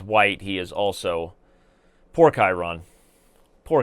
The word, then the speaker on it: Chiron: okay, and as white, he is also poor Chiron. Poor Chiron. You know, he didn't get his love in Greek mythology, people constantly mispronouncing his name to Chiron, and now Chiron